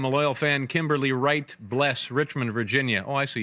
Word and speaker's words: Bless: The A is silent in my last name. A loyal fan, Kimberly Wright Bless, Richmond, Virginia.